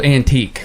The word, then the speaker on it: Anteeq: He calls himself Antique because he's old. Is it spelled in a crazy way? Yeah, it is. It's spelled Anteeq.